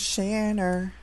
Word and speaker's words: Shanner: Her name is Shanner. It rhymes with banana.